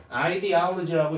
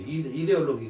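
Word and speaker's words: ideology: 아이디얼로지라고 읽고요. 이데올록이라고 읽어요. 어 영어로는 아이디얼로지 이데올로기 그게 이념 민주주의라는 이념 공산주의라는 인형 그 인형 생각이야 그걸 말하는 거야.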